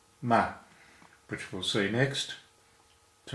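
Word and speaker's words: 么: Technically it's ma, has no tone, and it's usually just pronounced m.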